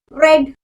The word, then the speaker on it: read: be the ready but we have to pronunciate it as red read read read read